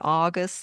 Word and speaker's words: August: And it's very tricky with words that do exist in English, like auto and August, and you want to say aw, but it's not aw, it's ow. It's always ow.